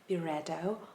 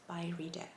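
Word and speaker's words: Byredo: this video i actually didn't know how to pronounce this brand name correctly i would say beretto or by redo different times i would say differently but after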